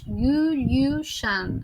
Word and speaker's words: Gülüşan: Bueno, quienes hablan inglés también, creo que ésta tampoco está, que es la “’s’ con la viborita” que suena “sh”: “Gulushan” (así se pronuncia), y está Melek.